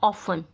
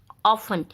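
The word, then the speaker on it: often: And third है ऑफन, ऑफन। इसको हम प्रोनाउंस अलग करते हैं और इसकी जो स्पेलिंग होती है वो हम अलग लिखते हैं, ये चीज़ ध्यान रखिए।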